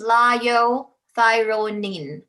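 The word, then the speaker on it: liothyronine: the brand name is cytomel the generic is lyo thyronine take note i know as americans we pronounce i n e as in when it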